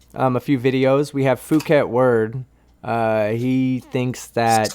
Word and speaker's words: Phuket Word: We have Phuket Word. He thinks that Say it right. It's fuckwit word.